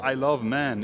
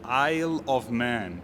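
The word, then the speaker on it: Isle of Man: Please forgive me if I pronounce it wrong, but it's called Eyle of Man Green. It's not called I Love Man, it's called Eyle of Man.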